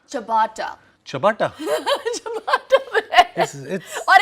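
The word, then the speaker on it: ciabatta: देखो अगर आप चिया भट्टा करके बुलाओगे तो पता नहीं वो देंगे भी नहीं आपको। तो कैसे प्रोनाउंस करते हैं इसको? चबाटा।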